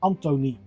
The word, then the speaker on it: Antoni: His first name is pronounced as Antoni.